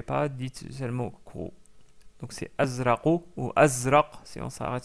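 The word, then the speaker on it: أزرق: couleur c'est le bleu on le prononce azra azra qui se termine avec une lettre que nous n'avons pas encore vu, mais vous pouvez prononcer la lettre Q en pour s'approcher de cette lettre là, mais c'est pas exactement le Q. Donc c'est plutôt azra et non pas que mais essayez de de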